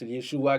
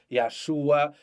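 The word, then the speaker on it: ישוע: Gen moun qui prononce Yeshua, gen ça qui prononce Yahshua, gen ça qui prononce Yahuda, OK?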